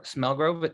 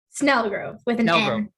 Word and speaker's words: Snelgrove: I'm here with David mccarriker and and smelgro smelgrove how did I did I pronounce that right Snell Grove yeah and snow Grove and um we're here